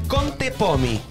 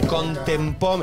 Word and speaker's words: Contepomi: De la familia de los Contepomi, que es Contepomi. Nada de Contempomi. No, Contepomi.